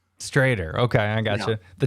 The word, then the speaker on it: Stroeder: butchering it is it's stroder right it's written schroeder but way back in the day there used to be two dots on the o so it's pronounced straighter straighter okay i got you